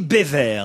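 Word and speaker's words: Beauvert: tout Erric beau vert on dit béever pour vous aider on prononce Bever erriic béver est un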